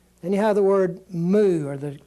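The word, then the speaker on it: μ: like that would be the way you would pronounce this word Theta Iota Kappa Lambda moo new is the next one new looks just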